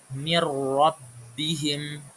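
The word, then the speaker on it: مِنْ رَبِّهِمْ: Ada nun sukun bertemu dengan ro. Nun sukun bertemu dengan ro. Mirbihim. Mirbihim. Jadi kita ee membacanya langsung masuk ke huruf setelahnya ro ke huruf ro tanpa membaca nunnya.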